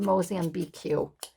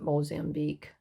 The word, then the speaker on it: Mozambique: no i i know that's the mosian bq and um he said you pronounce it mozambique i was so embarrassed